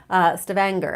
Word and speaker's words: Stavanger: where is it I'd Stavanger Stavanger actually is how you say these so the G's on the Norwegian names are hard so somewhere something a